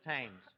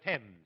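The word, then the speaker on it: Thames: The toast of the tames. Tames. Archie, if you're thinking of that river in Paris, the word is Tims. That's the French pronunciation.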